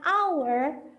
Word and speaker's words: hour: H-nya nggak kebaca. Jadi nggak keluar bunyi H-nya.